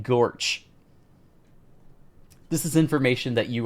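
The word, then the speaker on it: GOARCH: LM okay now I'm remembering uh when I was when I was a former employer I learned that Goos and go Arch are canonically pronounced goose and gorch this is information that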